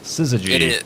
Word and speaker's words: Syzygy: I think it's pronounced Syzygy or something. Syzygy. It is.